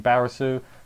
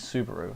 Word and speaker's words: Subaru: he can help, and she keeps calling him Barasu. Victoria's there, and she keeps like, "Your name is Subaru," and then Ram's like, "Yes, Barasu."